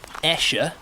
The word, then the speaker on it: Esher: Esher, spelled Esher, pronounced Esher. Don't know why.